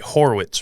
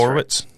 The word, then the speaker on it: Horwitz: Horwitz, right? Just That's Horwitz?